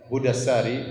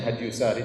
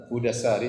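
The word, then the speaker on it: هدى الساري: Saya nukilkan dari kitab Hudassari, sebagian orang bacanya Hadyusari tetapi yang benar Hudassari, sebagaimana ditashkil, diberi harokat langsung oleh Ibnu Hajar rahimahullah, penulis buku.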